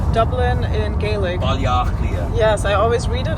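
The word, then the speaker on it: Baile Átha Cliath: Balliachlia.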